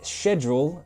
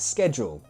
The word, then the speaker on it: schedule: again this is fun in British English we pronounce it Schedule but in the U.S they pronounce it Schedule However, British people also